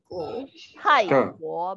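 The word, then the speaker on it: 泰国: Kita lihat TAI. Thai. Tapi kita nadanya nada keempat. Thai-guo. Betul. Jadi Thai-guo.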